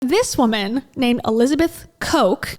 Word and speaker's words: Koch: this woman named Elizabeth Koch and not from Coca-Cola but pronounced the same way her daddy is worth